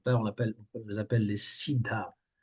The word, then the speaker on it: siddha: Donc là, on les appelle les siddhas. Bien prononcer le H aspiré pour que ça ne fasse pas sida, siddha.